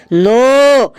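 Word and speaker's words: know: স্যার ওটা লেখা আছে কে এন ও ডব্লিউ নো এখানে কের উচ্চারণটা মুখে হবে না।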